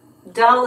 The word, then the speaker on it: Dulles: Dull is how it's pronounced. Okay, Washington Dull Airport.